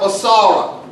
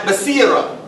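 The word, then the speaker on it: بصيرة: In Arabic we talk about basara. And did I say it right? Basira. Basira. Thank you so much.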